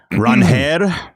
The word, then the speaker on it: Ranger: The Red Sox introduced Ranger Suárez today. Ranher, you mean? I'm sorry? Did you see that in the press? I think it's pronounced Ranher Suárez.